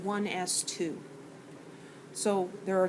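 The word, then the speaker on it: 1s²: And it looks like 1s squared, but we pronounce it 1s2.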